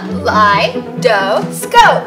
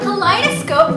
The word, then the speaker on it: kaleidoscope: cool wow look Jenny's inside whoa wrong pronunciation Charlotte you can do it let's try again huh lie doe scope Kaleidoscope means to watch beautiful shapes yeah very